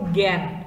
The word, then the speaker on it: জ্ঞান: জফলা বা আ ধ্বনিটা, যেহেতু সংবৃত উচ্চারণ এখানে গান না হয়ে হচ্ছে জ্ঞান, একটু জফলাযুক্ত।